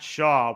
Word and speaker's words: Shaw: goes up to 100 does his last name uh rhyme with claw yes it does that's top prospect Matt Shaw we're excited to talk